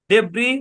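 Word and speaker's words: debris: এখানে এস টাও কিন্তু সাইলেন্ট ওকে তারপর দেখি সাইলেন্ট এস এর ধরাবাধার কোন রুল নাই ডেব্রি বর্জুয়া আইল আইল আইল্যান্ড তারপর শব্দের শেষে টি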